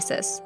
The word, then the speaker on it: stare decisis: Common law originated in England in the 12th century and is based on the concept of Stare Decisis (pronounced Starry Desi-sis), which is the idea that in an equal and fair society, similar cases should have similar outcomes.